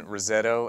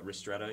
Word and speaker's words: ristretto: Can you tell me the difference between Rosetto and an espresso shot? I've always Yeah. wondered that. Yeah, ristretto, you mean?